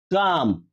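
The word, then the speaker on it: calm: শ্রেণী সির উচ্চারণটা দেখো কাম কাম দেখ এখানে এল এর উচ্চারণটা হয়নি এল এর উচ্চারণ দেখো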